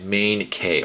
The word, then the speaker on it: Main K: youtube people just stop my name pronounced by the way is main k oh cool thank you main k i'm sorry i pronounced